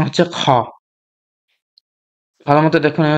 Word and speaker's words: خ: কারণ এর উচ্চারণ খা না এর উচ্চারণ হচ্ছে খ।